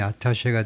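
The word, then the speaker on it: attaché: 별두 개 the 이스라엘 아타셰 아타셰 이게 프랑스에서 발음이 아타셰가 되고요.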